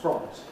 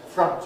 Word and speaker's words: front: know that word but the spelling is such that you might expect it to be france like font it is not france no native speaker of english says france every kind of english says front or the equivalent vowel